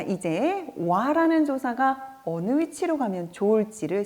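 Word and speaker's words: は: 3번 와. 그렇죠. 조사로 제시되고 있기 때문에 와라고 발음하고 는 이라고 해석이 되겠고요.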